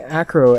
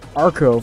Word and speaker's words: Acro: and uh quite interesting i've been pronouncing acro as arco for the longest time i don't know why